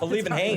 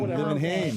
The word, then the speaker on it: Olivenhain: Olivenhain. Olivenhain. Olivenhain. Liebenhain.